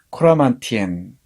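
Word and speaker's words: Coramantien: 코라만티엔, 프랑스어로 발음하면은 코라망땡이라고 해야 될 것 같은데요. 둘 다 쓰더군요.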